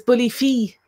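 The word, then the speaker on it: bulaí fir: And they tend to say it more as Bully Fee. They say it is fee rather than fair, and they often don't pronounce the R.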